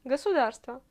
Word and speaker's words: государство: À Moscou, on prononce toujours tous les O inaccentués comme A.